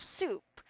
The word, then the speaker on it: soup: we have soup okay this is an s sound lean so you don't need to pronounce like an sh all right so it's like su yes because a while ago it sounds like sh but it sounds like su okay only an s yes so next we